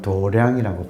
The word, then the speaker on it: 도량: 도장을 불교식 발음은 도량이라고 불러요.